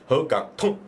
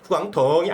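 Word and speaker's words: 沪港通: 나중에 우리가 또 다음 주 정도에는 허강통 우리가 특집도 하잖아요. 발음도 배워서 후강통이 아니야. 통 끊어야 돼. 통 발음. 허강통. 맞죠? 통이 일성일 건데 아니야. 올리는 게 아니라 덩이 아니라 허강통. 통이거든요. 통 일성인데 몰라.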